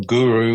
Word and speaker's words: guru: um spiritual teacher or Guru It's a Wonderful word it's two syllables goo and Ru and they're Sanskrit words and